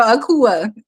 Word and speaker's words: Akua: I say, My name is Akua. It's just me born on Wednesday, It but it's sound pronounced like Akua. Tupac last name, right? Shakur, Akua, No, Akua.